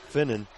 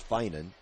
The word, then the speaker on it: Finan: of moving the basketball finnen inadvertently leapt into brielle wilson that'll be her first foul so each team now with one and i'm was pronouncing her name last name wrong it's finan apologize for that courtney